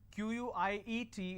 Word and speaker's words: quiet: quite means little or sum quiet means silence q-u-i-e-t is pronounced at quiet quite means q-u-i-t-e so choose